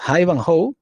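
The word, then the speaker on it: Ivanhoe: que aclarar acá que iba no es una horrible pronunciación es haivanjoe ahí van holt se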